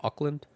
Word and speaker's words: Auckland: Do you pronounce it Auckland?